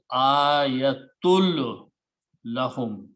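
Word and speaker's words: آيَةٌ لَّهُمْ: Now in the recitation, when sound of noon comes and the lam comes after that, then you do not pronounce noon, but you pronounce lam as twice. So it becomes ayatul lahum, completely no sound of noon.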